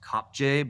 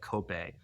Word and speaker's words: Kopje: Kenya called Elsa's it's it looks like it's pronounced Kopje, but it's like Kope.